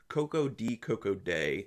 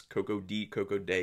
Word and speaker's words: Koko-Di Koko-Da: for the 2019 release coco d coco day and yes coco d coco day is how it's said in the film just so you know